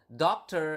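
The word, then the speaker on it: dokter: this in previous lesson you need to pronounce the r okay so doctor not doctor or something like that but doctor okay so with a doctor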